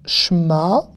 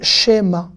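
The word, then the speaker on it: שמע: Shma, Israël. Eh oui, ça s'écrit comme ça, Israël. Israël. Shma, Israël. Il y en a qui disent Shema, d'accord? Mais c'est un E muet donc on dit Shma.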